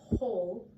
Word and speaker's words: whole: I guess, the word whole, H-O-L-E or W-H-O-L-E. They're pronounced the same where the W is silent, right?